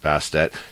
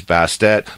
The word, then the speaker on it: Bastet: bastet or baste bastet I do believe it's pronounced bastet now bastet is basically